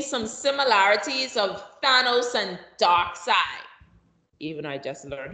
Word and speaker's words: Darkseid: Darkseid. That's how they pronounce it, Darkseid? No, yeah, they pronounce it like that, even though it's spelled differently. Oh, yeah. Yeah, they call him Darkseid, but they spell it S-E-I-D or something like that.